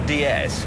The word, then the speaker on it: DS: And that's not such a fatuous analogy, actually, because what we call the DS is, in France, pronounced DS. DS. It's the French word for goddess.